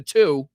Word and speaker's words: two: So the TW, you know, it's not the TW, it's the two. Typically, you don't pronounce the the W after the T like that. It's just two, not 12.